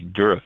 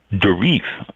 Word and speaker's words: Durif: That's Monday, Durif Day.